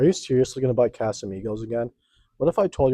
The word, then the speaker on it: Casamigos: I think there have been a few times where I said Casamigos, and I know the correct pronunciation, but I'm so used to my customers